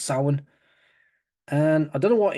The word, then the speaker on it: Samhain: Well, some people say Samhain, but it's pronounced Samhain.